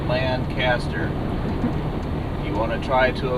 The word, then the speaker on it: Lancaster: We're now driving through beautiful Lancaster County, Pennsylvania, where there are just beautiful farms everywhere.